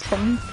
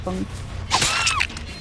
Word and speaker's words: Feng: Apparently the proper way to pronounce that is Feng. Because it's a I think Chinese name people say. Yeah, apparently you pronounce it Feng.